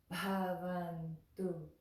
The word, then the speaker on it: bhavantu: Sarve Bhavantu Sukhinaḥ.